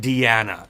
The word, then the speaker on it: Diana: but it's very different it's an Italian pronunciation right so I'm going to be very very careful say Diana with a with a duh or a duh d d Diana Diana and that's the